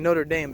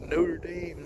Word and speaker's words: Notre Dame: So, and I'm saying Notre Dame because that's how Americans pronounce it, and it's in Indiana, so it's Notre Dame, not Notre Dame, like it is like the cathedral in France.